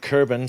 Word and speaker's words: Kerbin: the fine print mod now notice i said kerbin so if you're the ksp designer you will know that i said it right this time uh i am still tired and i do still make mistakes but hey it's kerbin they're kerbals awesome so this